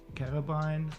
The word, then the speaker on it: carabiner: Carabine. How do you pronounce it? I don't know. We could go to the how to pronounce webpage. Carabin. So it's not carabine, it's carabin. Or so carabin.